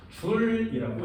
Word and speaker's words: 줄: 뉴턴 미터를 줄여서 뭐라고 하냐면 J자를 이렇게 써서 줄이라고 읽어요.